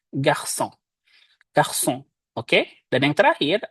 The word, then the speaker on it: garçon: Kalau tanpa sedi, maka dia dibacanya menjadi onke dan garçon. Malah. Karena ada ekornya, maka kita baca menjadi français garçon.